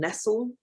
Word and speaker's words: Nestle: food politics by marion nessl uh which is spelt like nestle but without the e on the end and she pointed out